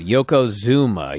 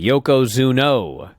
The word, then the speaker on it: Yokozuna: It is pronounced exactly like it's spelled. But no one could figure this out. Yokozuna, Yokozuno, up and down this show.